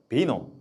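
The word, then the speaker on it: vino: 프랑스어로는 뱅, 이탈리아어로는 비노, 독일어로는 바인이라고 읽기도 해요.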